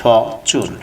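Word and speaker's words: fortune: উচ্চারণটা ফরচুন না বলে উচ্চারণটা বলবেন ফচুন, আরের উচ্চারণটা করবেন না। আমি অলরেডি ইতিমধ্যে অনেকগুলো ক্লাসে বলেছি আরের উচ্চারণটা আমেরিকানরা করে না, সেই ক্ষেত্রে আপনাকে বলতে হবে ফচুন।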